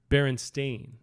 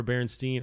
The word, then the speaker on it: Berenstain: a different Berenstein so the actual thing is is Berenstain is how you pronounce it but I remember Bernstein or Bear Steen something like that bears team bears yeah